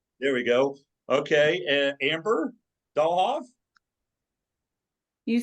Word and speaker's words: Dahlhoff: Okay, Amber Dahlhoff.